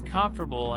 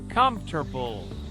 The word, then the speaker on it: comfortable: Many learners pronounce comfortable as comfortably. But the correct way to say it is comfortable.